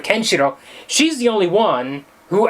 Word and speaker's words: Kenshiro: I don't know and everyone else is always saying can Shiro which is normal for an English pronunciation of everything the accent goes on the kenshiro instead of kenshiro she's the only one